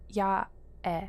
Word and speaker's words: Yae: If it was Japanese, it would be a, I, u, e. Ya, e. Yae. Yae? I think is how you pronounce it.